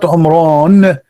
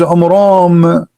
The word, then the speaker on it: Imran: First of all, the father of Moses, his name is not Umran, his name is Umram, according to the so he got the name wrong.